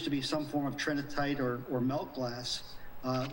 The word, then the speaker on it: trinitite: is that nuclear glass material called trying TR trinitite that's how you say it I from what